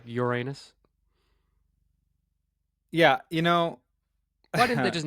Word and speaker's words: Uranus: And it's not even pronounced Uranus. I've Googled what's the correct pronunciation, and it is, in fact, Uranus.